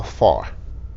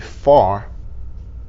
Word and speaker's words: far: How far? Fais attention pour pas prononcer far comme fa. Prononciation c'est far. C'est pas fa, c'est pas faire, c'est pas fort, mais far.